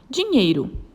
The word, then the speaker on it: dinheiro: Dinheiro. Qual é a sílaba tônica e qual é a classificação da sílaba tônica? Muito bem, ela é uma palavra paroxítona. A sílaba tônica dela é o nhei, dinheiro.